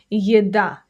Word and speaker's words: еда: first one, will be еда. Еда. That means food. For example, еда очень вкусная. Еда очень вкусная. The food is very tasty. It's delicious. The stress is on the second syllable, by the way.